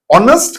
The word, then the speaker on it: honest: Honest කියලා කියන්නේ මේක ශබ්ද කරන්නේ honest කියලා. එච්චකර තිබුණාට එච්චකර ශබ්ද වෙන්නේ නැහැ. H is silent.